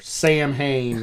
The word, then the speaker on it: Samhain: about Samhain now, or Sam Hain, whatever you want to call it. I think she calls it Samhain. Yeah, that, to my understanding, that is the proper pronunciation.